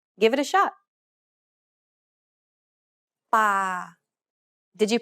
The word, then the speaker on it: ป่า: Remember, Thai contrasts between a hard B, an unaspirated P, and an aspirated P. This example uses an unaspirated P sound like the P in spin.